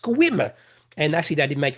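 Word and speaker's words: Sequim: And I said squim. No, the e is silent. It's actually pronounced squim.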